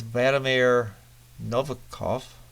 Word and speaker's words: Vladimir Nabokov: Playboy have long been known as provocateurs in the arts, publishing such heavyweights as Vladimir Nabokov.